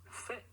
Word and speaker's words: fait: So the past participle of faire is fait. Fait. That's spelled F-A-I-T. Fait.